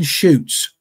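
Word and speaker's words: Chutes: the beast of seven shoots yes and that's that's a there's a that's a Provincial Park up in Quebec Quebec Canada and shoots is spelled c hu Tes the Beast of seven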